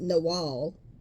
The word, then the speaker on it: Nagual: It says, Nagual can also be pronounced Nawal, is a man or woman of power.